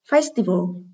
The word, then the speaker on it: festival: Festival, đây là danh từ có 3 âm tiết, âm thứ 2 là Y, nên trọng âm rơi ở âm tiết số 1.